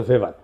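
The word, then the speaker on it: Weber: এটা ওয়েভার বলে অনেকে। এটা উচ্চারণ আসলে ভেভার।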